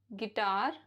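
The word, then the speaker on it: guitar: beginning of a word जैसे guava guest guess गिटार guild गिल्ट rule number two यू is silent after a ji when it is before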